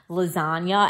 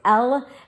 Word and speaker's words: Lasania: there's this place called Lasagna, and I know I'm saying it wrong. It's Lasania, but in my head, I'm reading it as lasagna, and that's not even